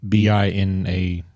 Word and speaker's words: Binance: Is BINANCE, like finance, but Binance.